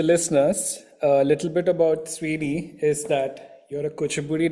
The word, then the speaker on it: Swini: And today we have Manaswini uh aka Sweeni. Is that the right way to pronounce it?